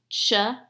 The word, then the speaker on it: child: Okay, that word, the I says its name. Let's sound it out together. Child.